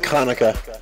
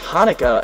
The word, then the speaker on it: Hanukkah: about and rarely about konica uh first of all it's pronounced Hanukkah and you don't you